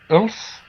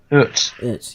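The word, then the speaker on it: Uth: Mark Ulf, how do you pronounce it? Ut, yeah. Mark Ut, who had only come on the 70th minute.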